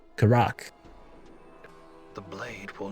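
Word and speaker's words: Karach: Okay, the stress is on the second syllable. Karak.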